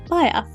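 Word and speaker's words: Baia: searches for Dmitry's hometown, Bayer. That's how you pronounce it, yes, Bayer.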